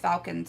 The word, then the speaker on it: Falken: But why isn't it spelled like a falcon? Because it's the brand. Falken. Falcon? Falken.